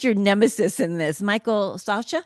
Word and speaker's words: Socha: Well, I also liked your nemesis in this, Michael Socha. Is that how you say his name? Soka. Soka. Yeah.